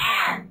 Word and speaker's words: aunt: Nah, tadi berarti kalau tante atau bude bacanya N. N itu bukan semut, bukan den, bukan dan, tapi memang cara bacanya sama.